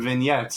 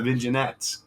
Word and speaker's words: vignette: the same reason why everybody calls them vignettes and they're not viget listen it looks like